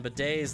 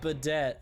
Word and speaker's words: bidet: paper it was like no I'm pretty sure it's pronounced Baudette I was like it's not it's it is not pronounced like that at all you will find that